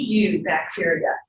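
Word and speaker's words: eubacteria: did provide that in parentheses one word he you bacteria Chris will see that group referred to as you bacteria EU bacteria which is pronounced new bacteria what does EU as a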